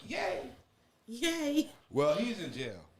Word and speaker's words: Ye: It's Ye, pronounced Yay.